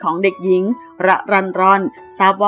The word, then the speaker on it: รรรรรร: ชั้น ป 3 เพราะ เห็น ชื่อ แปลก มี รอ เรือ 6 ตัว จึง ถาม น้อง ว่า ชื่อ อ่าน ว่า อย่าง ไร น้อง ก็ บอก ว่า ระ รัน รอน หมาย ถึง ผู้ ที่